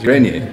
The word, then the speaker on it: Grenier: Is that how you pronounce it? Grenier, yeah. Grenier, okay.